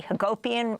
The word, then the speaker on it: Hagopian: two of this discussion Jesse Hagopian rhymes with utopian I'm Amy Goodman with